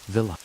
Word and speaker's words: villi: The inside of the small intestine is lined with tiny finger-like structures called villi, pronounced villa.